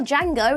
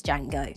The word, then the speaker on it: Django: paths with jie Fox's Django tellingly when Jango tells him that the D in his name is silent he retorts with I